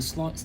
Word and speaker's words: sloth: this version of the sloth of the sin sloth clouds our vision of what the sin of sloth actually is the way father Ken says sloth is SLO and pronouncing it that way will help us understand